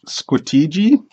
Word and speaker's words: Squeteague: It's Squeteague or Squeteague, if you want to say it's like league, Squeteague.